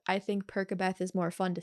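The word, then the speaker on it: Percabeth: I know some people pronounce it Persabeth. I think Perkabeth is more fun to say because it sounds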